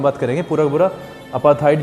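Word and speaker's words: apartheid: और मैंने इसका प्रोनाउंसिएशन देखा है, अपार्थाइड बोलेगा। वैसे 3 भागों में बटा हुआ था, PART अलग और HEID अलग, HEID। तो अपार्थाइड बोलेगा ये, ए अलग है।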